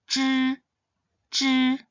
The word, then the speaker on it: zhi: The ZH initial is pronounced as zh, zh. It is similar to the GIR sound in the word giraffe or the GE at the end of the name George, zh, zh.